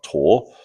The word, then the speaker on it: tau: neutrinos that were discovered Greek letter tau, sometimes pronounced tor.